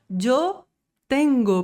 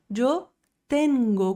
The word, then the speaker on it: tengo: Jengo. Pronuncia comigo em voz alta. Jengo.